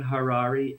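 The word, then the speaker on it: Harary: and my name is Harari h-a-r-a-r-y rhymes with Ferrari uh Harari author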